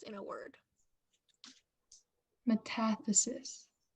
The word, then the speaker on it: metathesis: letters in a word metathesis am I saying it right yes m e t a